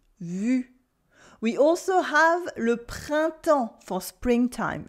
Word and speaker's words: printemps: We also have le printemps for springtime, le printemps, with a silent P, a silent S, and you don't hear any N or M sound either.